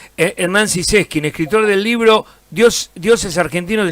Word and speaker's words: Zyseskind: Estamos hablando con Hernán, eh, Sises Skin, así se pronuncia. Siskin. Sí, sí. Sin ningún acento. Sin ningún acento en alguna parte. Claro. En la E. Claro. Como en la E. Hernán Siseskin, escritor del libro Dios